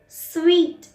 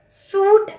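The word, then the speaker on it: suite: स्वीट, सूट नहीं होता. सूट वो होता है जो हम पहनते हैं, जो लड़कियां पहनती हैं या जो लड़के पहनते हैं, वो सूट होता है. इसको हम प्रोनाउंस करते हैं स्वीट. स्वीट मतलब जैसे हम मिठाई को बोलते हैं स्वीट, इसकी सेम प्रोनाउंसिएशन होती है स्वीट.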